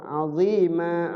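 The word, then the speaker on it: عظيما: Nah, di sini aziman. Dia sebenarnya dibacanya pendek, aziman. Tapi karena diwaqafkan di situ, berhenti di situ, maka setiap huruf yang berbaris fathatain jadi panjang, jadi mat. Ya, panjang. Azima gitu.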